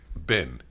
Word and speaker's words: been: Some people say sort of like bin. That's what I just said. I know. I've been to France. I say it like the name Ben. You say bin, like trash bin.